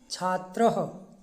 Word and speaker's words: छात्रः: विसर्ग अब हिंदी में हम बोलते हैं बालक, लेकिन जब संस्कृत में इसका उच्चारण करते हैं तो बालकः, छात्रः, पिकः, उसका उच्चारण ह हो जाता है।